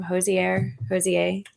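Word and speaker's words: Hozier: That's how you say his name, Hosier.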